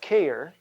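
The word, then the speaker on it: χείρ: Let me give you the root word care, C-H-E-I-R, care, which is the same way we pronounce C-A-R-E, and this literally means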